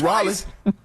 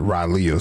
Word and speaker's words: Raleigh: You mean Raleigh? Raleigh. Oh, okay. Close enough. That's how you say it? How you say Raleigh. it again? You for real? But it's spelled R-A-L-E-I-G-H. Raleigh. That's Raleigh.